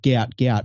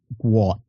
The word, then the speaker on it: Gout Gout: young Australian kid and his name looks like gout gout but his father come out to say and and today and said it's actually pronounced guat I believe so and he broke he's like